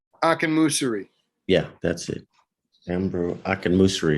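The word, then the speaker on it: Akinmusire: Ambrose, how do you pronounce his last name? Akinmusiri.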